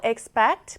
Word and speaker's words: expect: 다음으로 expect 보겠습니다. 자, expect 뒷부분에 강세를 강하게 주시면 되고요.